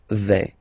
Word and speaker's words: vais: Okay, first person here, je vais. Remember, final S not pronounced.